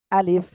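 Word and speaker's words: ألف: পেট সামনের উপরে দ্বিধাতের আকার সঙ্গে লাগিয়ে আমরা উচ্চারণ করব কি হালকা বাতাস বের করব আলিফ আলিফ আলিফ ওকে এই আলিফ অক্ষরে কোন টান হবে না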